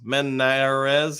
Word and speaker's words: Manz: I kill it um Manz uh pronounced manes uh have been same